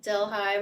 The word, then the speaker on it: Delhi: called it Del High.